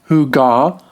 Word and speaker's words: hygge: To say the word, try puckering your lips, and aim for a throaty word somewhere between hygge and hyggu. Kind of like the beginning of the song Hooked on a Feeling.